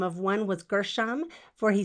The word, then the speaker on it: Gershom: i think i might have said that wrong gershom and eleazar g before an e is usually a soft g and this i looked at the pronunciation it said gershom so if i'm saying it wrong you can